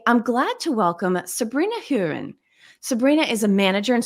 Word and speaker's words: Hueren: this conversation today I'm glad to welcome Sabrina hurin Sabrina is a manager and strategy consultant for